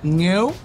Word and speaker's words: nghêu: niệm đối với Phúc Chúng ta có một trong những từ khó đọc nhất của tiếng Việt Nghêu - nó quá khó luôn Phúc cũng không đọc đúng được NGHÊU N G H